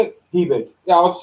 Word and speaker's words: Hebig: Hebig.